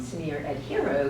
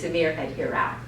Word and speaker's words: Sameer Ahirrao: to me I always like to call him sneer at hero because I think he's a hero because he's